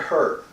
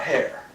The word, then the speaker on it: her: The word her often comes out hair, so you might think about that. Is that H-E-R, like her? Her. Her. Not H-A-R.